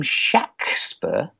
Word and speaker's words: Shakespeare: He pronounced his name Shaxper. Not that that proves anything, but it was Shaxper.